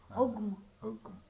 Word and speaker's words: ogum: Og or ogum? Here only pronounced. Ogum.